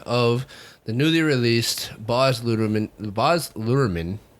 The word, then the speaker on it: Luhrmann: And on this episode, we are going to give you our take of the newly released Baz Luhrmann, right?